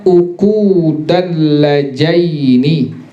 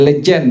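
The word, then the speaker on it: عقود اللجين: rahimahullah, kitab ini namanya Uqudal Lajaini. Bacanya begitu, Uqudal Lajaini fi bayani huquqiz zawjaini. Kita bilang Uqudul Lajain, padahal namanya Uqudul Lajain, bukan lejan tapi apa? Lajain.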